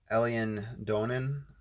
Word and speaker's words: Eilean Donan: free images the island hopefully i'm pronouncing this right it's alien donan island it's e-i-l-e-a-n-d-o-n-a-n so that's what i'm